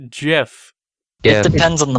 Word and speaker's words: GIF: It's hard G. It's GIF.